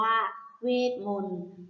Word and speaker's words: เวทมนตร์: ไป ค่ะ คำ ว่า เวทมนตร์ เวทมนตร์ อ่าน ว่า เวท มนต์ เวทมนตร์ ประกอบ ด้วย สะเอว